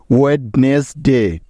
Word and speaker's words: Wednesday: এ ওয়াই এই দুটি বর্ণ একসাথে থাকলে তাদের উচ্চারণটা হয় একারের মতো। তাহলে এখানে ডি এ ওয়াই মিলে হয়ে যাবে ডে, অর্থাৎ ড একার ডে। ওয়েডনেসডে, ওয়েডনেসডে মানে হলো বুধবার।